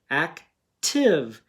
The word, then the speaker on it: active: not say its name active we already talked about how this is a vowel consonant exception and this would be short this time okay because